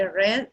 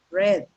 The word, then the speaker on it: read: in simple form or in simple present the pronunciation is read in simple past we're going to say red for example i read